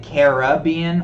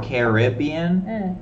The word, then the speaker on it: Caribbean: Somebody was saying, is it Caribbean or Caribbean? Like, how do you pronounce it? I say Caribbean.